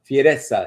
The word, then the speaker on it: Fessa: Started with Is it Is it Fessa? Fessa. Yes. Yes. Now with these names, you're gonna start, you know, like practicing your Italian pronunciation.